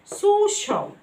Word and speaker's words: social: Here هنا السي جه وراها I A هتنطق ش sound زي social, social. ما اسمهاش social، غلط في النطق.